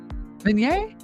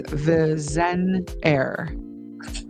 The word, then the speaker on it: Vigenère: It's commonly pronounced in English as Vigenère. What? What? It's commonly pronounced in English as Vigenère.